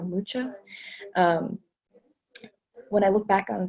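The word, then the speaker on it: Mucha: me in general alaman think it's pronounced Alphonse Luca or lucha when I look back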